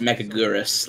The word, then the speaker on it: Megaguirus: Alan Carrillo says, "We all know it's pronounced Megagyrus, like in the English dub of Godzilla vs. Megaguirus." And then Lord 2 Senpai simply says, "Mega generous."